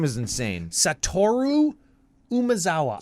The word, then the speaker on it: Satoru: Satoru Umezawa. So, I want to flip-flop that O and that U, and I want to call him Saturo, but he's Satoru.